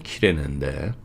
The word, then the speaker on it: 키레네: 예수님이 끌려가실 때 시골에서 온 그 구레네 사람, 제대로 발음을 하면 키레네인데, 어쨌든 시몬이 붙잡혀 십자가를 예수님 뒤를 따라 지게 했습니다.